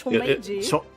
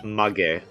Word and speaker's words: chonmage: Is it chom? I feel like it's chomeiji. Chomaji? Chonmage. Chonmage. Mage!